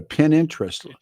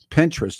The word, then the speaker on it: Pinterest: this stuff down Facebook Instagram uh what a pininterest Pinterest that's how it's pronounced a Lincoln Reddit X which is used